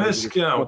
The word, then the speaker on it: Lesquen: De Lesquin. Le S se prononce. L'aéroport de Lille s'appelle Lesquin, mais ça n'a aucun rapport. Pour moi, on dit Lesquin.